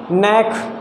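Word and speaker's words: knack: अब के लेटर देखेंगे, नैक, नैक में क्या, ये के साइलेंट है, फर्स्ट लेटर साइलेंट है।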